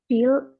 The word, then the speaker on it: Phil: Phil eats lunch at 12:30 p.m. Pakai S apa enggak? Pakai. Jadi Phil ya bacanya. Kalau P ketemu H bacanya F.